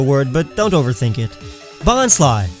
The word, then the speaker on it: Bonsly: Bonsly, like bonsai and sly or lie, cause it's not really a tree.